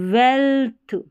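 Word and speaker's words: wealth: वह अपीरेंस यह है वेल्थ वेल्थ यहां पर इ ए का उच्चारण इ नहीं हो रहा वेल्थ ए करके हो रहा है व एल्थ वेल्थ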